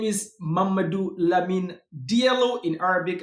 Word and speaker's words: Mamadou: In Arabic, I think you would pronounce it Muhammad Al Amin Diallo, but I'm from Guinea Conakry, and this is how the Fulanis pronounce Muhammad. They say Mamadou.